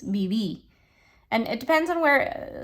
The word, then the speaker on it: viví: Remember those V's in Spanish are pronounced like B's, viví.